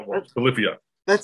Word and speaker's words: Polyphia: And it's pronounced Polyphia.